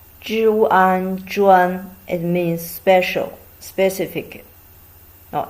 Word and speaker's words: 专: The pronunciation of this character is 专. 专.